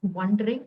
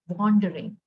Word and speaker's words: wandering: It's not wondering, it was wandering. Wandering has an A in it.